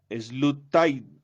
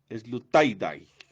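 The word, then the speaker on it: Sloterdijk: lo va a pronunciar obviamente mal, porque es pronunciar alemán en español antioqueño. Slutaidai, Slutaidai, así es que se pronuncia.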